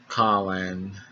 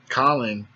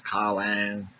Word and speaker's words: Conlan: Michael Conlan taking on. I always got a concert because, I know my pronunciation of words ain't the best, and I was saying his name Colin, and some Irish people